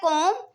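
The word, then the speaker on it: comb: पहले हमारे पास है कोम जिसमें बी हमारे पास साइलेंट है लिखने में हम बी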